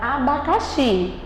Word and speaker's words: abacaxi: Você pode ver que o xi é que é a palavra mais forte, que quando é pronunciada.